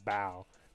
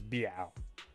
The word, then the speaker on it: Biao: I said Bao, but it's Biao. Right?